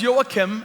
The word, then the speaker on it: Joakim: My name is Joakim, as you heard. If you have a hard time pronouncing that, you can just say, "You're welcome." And that will bring it close enough.